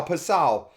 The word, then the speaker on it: Passau: Kaylee Passau, I've been saying her name wrong all along, and I apologize to the family. I believe I'm saying it right now, Passau.